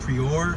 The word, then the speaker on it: Prieur: It's spelled P-R-I-E-U-R, but since this has French influence, it's probably like Prior or Prior. Maybe Prior.